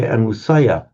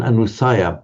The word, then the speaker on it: anusaya: Um so an I would tend to say anusaya because the anu is is a prefix. Anuh. We're talking about the latent tendencies here aren't with the anusayiah. Yeah. Um, I would go for an anusia because well precisely for the the anu is is a prefix and um you tend not to stress the prefix.